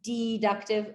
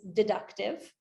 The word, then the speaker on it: deductive: have a deductive or I'm emphasizing it to rhyme like inductive deductive but the actual correct pronunciation is deductive okay so a deductive